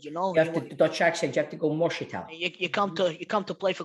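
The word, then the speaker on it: Moersleutel: You have to do it in the Dutch accent, you know. You have to the Dutch accent. You have to go Morsetal.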